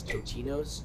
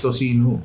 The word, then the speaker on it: tocino: Also, a lot of the crew kept calling this Totinos, and now I understand why you all judge my pronunciation. So No, it's tocino. Most of it looks Tocino.